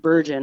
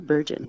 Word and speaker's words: Bergen: just like it's Paul beron sounds very French or something right right anyway uh